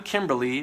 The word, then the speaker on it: Kimberly: there, and she says, I'm Kimberly, pronounced rhymes with butterfly.